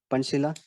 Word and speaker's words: Pancasila: That is Pancasila, like that pronunciation, Pancasila.